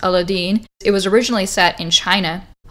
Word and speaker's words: Aladdin: And as a result of that, you actually have some of these stories like Aladdin, which is actually pronounced Aladdin.